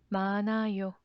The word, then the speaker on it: 많아요: 많아요. Please note here is silent, so ni은 sounds floats into the empty 이응 place to make sound.